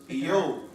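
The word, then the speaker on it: Iyob: Eyob. Hebrew name Eyob. That's spelled I-Y-O-B.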